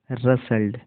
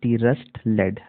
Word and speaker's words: rustled: इसका सही प्रोनाउंसिएशन होगा रसल्ड। अब देखिए कई लोग इसको इस तरीके से पढ़ेंगे, RUST, रस्ट लेड, रस्ट लेड, जबकि ये रॉन्ग है, ठीक है। यहाँ पर टी जो है साइलेंट है, तो ये होगा रसल्ड।